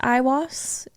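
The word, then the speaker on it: Aiwass: being that he called I believe it's pronounced I was a-i-w-a-s-s it was supposedly his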